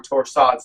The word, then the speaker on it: torsades: if we haven't diagnosed specifically torsades or torsades that is properly pronounced magnesium one to two